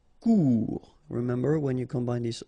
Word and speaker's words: court: Final T not pronounced. Court.